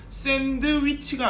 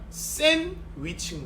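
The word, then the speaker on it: sandwich: 그럼 그때 D는 탈락시키는 거죠. 그럼 어떻게 읽겠습니까? 샌드위치가 아니라 샌위치인 거죠. 샌위치. 드가 발음이 안 나도록 하는 겁니다.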